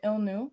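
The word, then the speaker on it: L'nu: land acknowledgement is that we the illne which is how you say migmal person we the illnew honor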